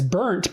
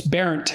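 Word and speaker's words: Bernt: I probably never admitted that to anyone, but because it was parodied as burnt, because that's B-E-R-N-T, that's how it's spelled, and so it was an object of mockery. But so I didn't look into it much. But it's Berent, and my great grandfather,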